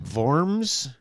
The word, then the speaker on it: Worms: in in warms okay Germany vorms yeah it's called worms you spell it like that w-o-r-m-s bombs worms Germany yeah like like worms yeah only in German I wonder why they